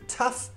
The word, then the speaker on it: tough: So we've had uff for tough and O for though.